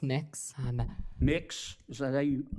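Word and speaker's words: Mx.: Cameron tell me what you're you're proposing it's pronounced mix I'm mix is that how you how would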